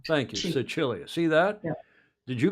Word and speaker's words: Sicilia: C followed by an I is a CH sound. Thank you, Sicilia.